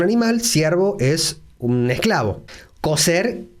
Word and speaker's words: coser: Y aquí nos detenemos un poquito porque en España sí hay diferencia fonética en muchas regiones de España entre la pronunciación de la C y la Z por un lado y la S. En muchos lugares de España se dice cocer para cocinar y coser para unir tela con hilo y aguja.